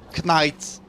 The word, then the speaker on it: Knight: Knight. Vous apprendrez en anglais, je pense que votre prof vous le répétera jamais assez, que le K... ne se prononce pas.